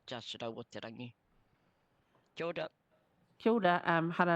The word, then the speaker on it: Te Rau o Te Rangi: And there's a te in front of Te Rau o Te Rangi. That's how you pronounce the name. It's not just Te Rau o Te Rangi.